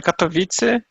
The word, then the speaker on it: Katowice: Então, a cidade, isso, chamada Katowice, Ah, é uma cidade Katowice? no... E sim, na Polônia o C tem som de C, Ok.